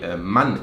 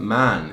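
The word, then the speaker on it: Mann: is a man like when you say man in german it's money it's short it's not man it's not like man in english so friends this is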